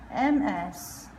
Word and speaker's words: Ms.: M-I-S-S has the soft S, and M-S sounds like a Z, Ms.